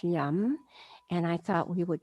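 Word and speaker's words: yam: the heart chakra is it's spelled y-a-m it's pronounced yum and i thought we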